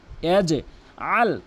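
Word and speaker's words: يجعل: আলাম ইয়াজআল, এখানে দুইটি মারাত্মক লেভেলের ভুল করে। একটি হচ্ছে ইয়াজ, একটি বলে ইয়াজ, ইয়াজ ইয়াজ ইয়াজ, ভুল উচ্চারণ। ইয়াজে বলতে হবে, ইয়াজে ইয়াজে ইয়াজে। আল, অধিকাংশ লোক ভুল উচ্চারণ করে আল, আল আইনের জায়গায় হামজানে উচ্চারণ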